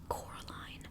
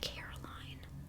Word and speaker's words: Coraline: They kept saying Coraline. Not Caroline. Not Caroline at all.